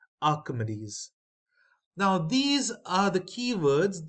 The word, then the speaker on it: Archimedes: Rose spiral of Archimedes this is pronounced as Archimedes now these are the